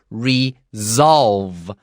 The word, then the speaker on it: resolve: 没错，这个地方特别注意一下，如果要解决问题的话，有的时候你把这个 re 遮掉的时候，那个 solve 这个字也是解决的问题。然后老师刚刚提了一个非常重要，我自己都没有注意到的这个点。好，如果说今天你是 solve 这个动词，我们念 solve 是 s 的声音，嘶solve。但是如果你今天加了 re 也是解决的问题，但它念的时候就念 resolve，所以这个地方的 s 会如果有 re 的时候会念成像 z 一样的声音。好，这个地方要特别注意，在念的时候 solve a problem resolve a problem and write down that z above your s.